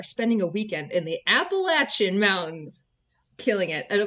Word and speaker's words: Appalachian: southern thing and say if you say appalation then I'm going to throw an Apple at you throw an Apple at